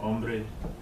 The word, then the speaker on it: hombre: Because the H is silent. When I take a look at this word, Hombre.